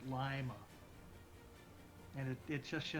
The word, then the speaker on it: Lima: America Town yeah there's a town in Ohio called Lima except they pronounce it Lima and it it just